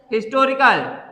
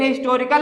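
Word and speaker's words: historical: यहां पे H silent नहीं है, इसको क्या पढ़ेंगे, हिस्टोरिकल। लेकिन हिस्टोरिकल में एच को इतनी जल्दी पढ़ देंगे कि इस पे कोई भी हमारा दबाव या जोर नहीं पड़ रहा है। हिस्टोरिकल एच को हम लोग बहुत ज्यादा जल्दी पढ़ दे रहे हैं, लगभग ये साइलेंट के ही बराबर है।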